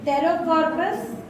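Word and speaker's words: Pterocarpus: लिख रहे स्पेलिंग लिखिए पी टी ई आर ओ सी ए आर पी यू एस P silent है ना रो कार्पस एम ए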